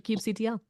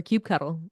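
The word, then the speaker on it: kubectl: a matter of debate similar to cube CTL or cube cuddle or cube ectl cube ectl is what I'm going with now that's just wrong that I mean okay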